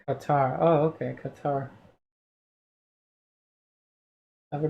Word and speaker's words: Qatar: into it to make it work very fluid pronounced qatar oh okay qatar have a great weekend meredith